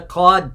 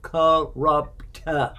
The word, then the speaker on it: corrupt: not one of the cod people what does cod people mean corrupt yeah there's more you only said one one syllable so uh corrupt has three actual sounds to it corrupt all right so yeah